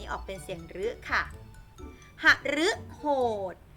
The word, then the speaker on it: หฤโหด: เป็น เสี่ยง หรือ ค่ะ หฤโหด หฤโหด ออก เป็น เสียง หรือ อมฤต อมฤต อัน นี้